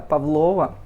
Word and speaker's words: Павлова: больше понимаешь я Прониклась они ставят ударение на вторую получается на второй слог Да Павлова Но это Но это